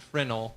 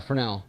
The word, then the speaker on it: Fresnel: It's not Fresnel. That's how a lot of people are Fresnel.